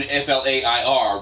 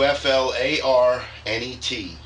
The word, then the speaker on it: FlareNet: We're not doing FLAIR, Ric Flair. No, no, we're going to do FLARNET. FLARNET. Okay. So some people might pronounce it Flarnet. I don't know. I guess it depends on whether you're from the north or the south, right? But anyway. You know what? You spell phonetically. Go with it.